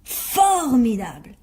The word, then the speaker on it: formidable: Alors rappelle-toi, il disait tout le temps « formidable » en appuyant sur la première syllabe.